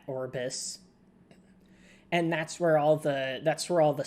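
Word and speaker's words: Aurbis: whole shtick created the Arbus. There's no good way to pronounce that. Orbis.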